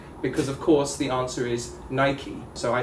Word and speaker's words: Nike: how to pronounce bike they know how to pronounce mike and and all this stuff and then they see this and they're like but but why why is this nike and not knight and yeah right because